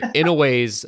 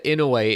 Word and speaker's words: Inoue: See, Inoue's or it's Inoue, I think is how you say his name.